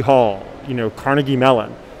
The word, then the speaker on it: Carnegie: you know carnegie mellon but andrew himself would have said carnegie or carnegie is how he would have pronounced his name then you choose how you want to you want to call him carnegie carnegie or carnegie a good old american fashioned way okay well let me